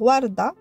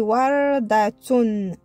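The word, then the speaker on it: وردة: Alors, vu que ça signifie warda, ça finit par un tsa qui est muet. Warda. Si on ne veut pas qu'il soit muet, on va venir mettre harakat. Des fois, on trouve muet. Alors, dans la lecture, on va dire warda. Mais si on trouve, par exemple, que le tsa, il y a des harakat sur tsa, là, ça va signifier wardatun. Ça, tu te rappelles de ça?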